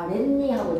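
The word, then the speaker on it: 아랫니: 근데 뒤에 니은으로 시작하는 말에서 아레니가 아니라 아렌니하고 니은이 덧나. 선생님 니은이 덧난다는게 무슨 말이에요라고 하면 없었던 니은의 의물이 첨가가 되어서 아렌이라고 발음하지 않고 아렌니라고 발음하는 거.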